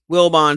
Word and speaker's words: Wilbon: Wilbon sounds like it's spelled Wilson with a B.